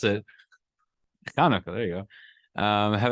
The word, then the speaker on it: Chanukah: Don't know where the H came from, but in the Hebrew it's with the Chetz, so it's the Chanukah. Regardless, as long however you pronounce it, Chanukah.